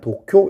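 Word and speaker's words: 東京: 이 동경을 일본어로 읽으면 도쿄 이렇게 읽어요.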